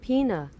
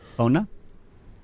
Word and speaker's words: pona: Oh, pona. Yeah. No. Yeah. It's like p like e island po and then no. It's a pona.